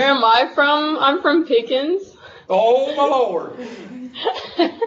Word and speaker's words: Pickens: I'm from Pickens. Oh, my Lord. People that live in Pickens, they make that into a three-syllable word.